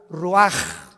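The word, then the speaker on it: רוח: ro así como suena se pronuncia la ch en hebreo como J ruaj se le só y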